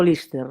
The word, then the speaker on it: Liste: Mira, eu empecé a traballar con Mercedes Peón precisamente para Lister, pronunciado Lister, no ano 2006, a película sae no 2007.